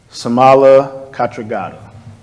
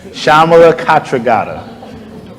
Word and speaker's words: Shamala Katra: from Sylvia Mendes newcomers somala Katra how do you pronounce it but not close enough shamala Katra better thank you so much